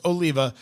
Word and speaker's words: Oliva: And with the cigar, we're doing from Oliva, or sometimes pronounced Oliva, the Serie V Melanio.